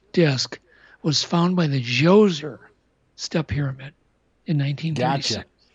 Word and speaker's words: Djoser: The schist disc was found by the Djoser step pyramid in 1936. Gotcha. Yep. So it's spelled D-J-O-S-E-R.